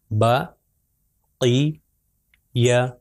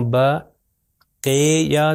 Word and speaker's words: بقیہ: با کے اوپر فتح ہے، یا کے اوپر بھی فتح ہے، اور صرف قاف کے نیچے کسرہ ہے. تو اس کا تلفظ ہے بقیہ. اگر میں کہوں بقیہ تو یہ غلط ہو جائے گا. اے کی ساؤنڈ نہیں آنی چاہیے بلکہ ای کی ساؤنڈ آنی چاہیے.